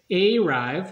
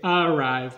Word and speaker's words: arrive: So we don't say arrive, we say arrive because those two consonants.